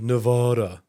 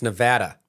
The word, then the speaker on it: Nevada: It's kind of like those people that say Nevada. Yeah. Looking at you, Alyssa, it's Nevada, right?